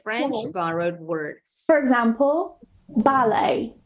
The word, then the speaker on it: ballet: So if they end with a T, we normally don't pronounce it. Nah, ini aturan yang terakhir, number 4, with French borrowed words. For example, ballet, gourmet, buffet or buffet, rapport, ricochet.